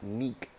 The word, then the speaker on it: Nic: number one so the Nick one okay and it's Nick not Nick cuz the K is silent silent it's gone it's